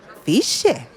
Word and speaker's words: Sitges: Lo que pasa que tg en catalán también se pronuncia como parecido a la ch, ¿no? Pero él con su acento de beg él decía ciche y para mí era ciche